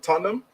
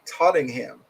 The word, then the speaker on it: Tottenham: M Nice pronunciation of Tottenham most Americans say tottingham did not know that but I will definitely take that I've always said this Tottenham I guess because I